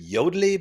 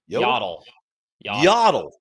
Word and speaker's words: Yodlee: use a product called was it yodlee but we actually got to pronounce util yaddle yaddle um and there are